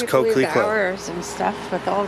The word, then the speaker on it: Coquelicot: Okay, so Coquelicot, which apparently means poppy. Coquelicot. Yep, I would have said Coquelicot. But no, it's Coquelicot.